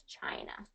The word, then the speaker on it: China: hearing as far as China China China okay so it's a i CH China China I just like you would say the letter I I China ch ch